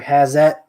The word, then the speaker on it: Hazet: These are Hazet. That's how you pronounce them.